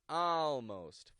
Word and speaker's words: almost: end of a word when an American pronounces words with an A and then an L we get the sound ow ow this is an ah sound that quickly goes into an L A few words that